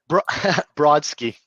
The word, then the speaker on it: Brodsky: Brodsky.